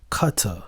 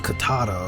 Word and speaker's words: Cutter: He said it's pronounced Cutter. Okay, Cutter. Okay, gotcha. Thank you, Cutter. Cutter. I don't want to pronounce it too hard, right? I'm over here saying Katata or something, right? It sounds like you're a kung fu artist.